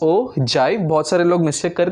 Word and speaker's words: ogive: actually क्या है okay नहीं भाई इट्स हो जाए वो गिव नहीं हो जाए लिखने में ओ गिव जैसा ग रहा है ठीक है बट आईटी इस प्रोनाउंसड स ओ जय बहुत सारे लोग मुझे